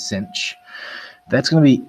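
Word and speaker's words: sinh: end which is pronounced cinch so sine with an h is cinch that's going to be e to the x minus e to the negative x all over 2.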